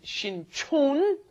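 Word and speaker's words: 신촌: One is Shincheon, one is Shinchon. Yes. The one by Yonsei University is Shinchon, and the one by Jamsil down south, that is Shincheon.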